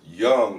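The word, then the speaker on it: Jung: the Swiss the very imminent Swiss psychologist Carl Young um I think it's with a j and it's pronounced you know young he's German Swiss whatever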